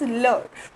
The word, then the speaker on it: l'heure: Here H is silent and we just pronounce only EURE, which is or.